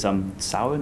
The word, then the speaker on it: Samhain: Is it Samhain? Is that how you pronounce it?